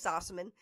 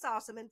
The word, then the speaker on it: Sossamon: LSU baseball player so I think you can stick with saucerman for that by the time I got into television I threw the other syllable in because I you know felt like it needed to be that to be okay got it got it